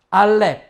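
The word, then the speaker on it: אלף: 자 , 이제 알레프 입니다 .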